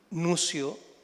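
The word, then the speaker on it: Nuccio: un eh filósofo italiano Nucio, las 12 se pronuncian como C, ¿cierto?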